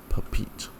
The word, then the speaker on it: Papeete: And also now we know how to pronounce this place. Papeete.